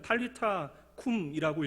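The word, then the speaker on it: Talitha koum: 이 달리다굼이라고 하는 아람어를 정확하게 읽으면 탈리타쿰이라고 읽게 되어지는데요. 탈리타라고 하는 단어는 소녀야라고 하는 뜻이고요.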